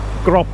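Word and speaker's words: กรอบ: written below the consonant and then final consonant is the PO PL and again as a final consonant that makes a PE sound so actually says grop R and that means a picture frame and there actually quite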